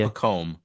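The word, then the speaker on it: Pacôme: Pacome.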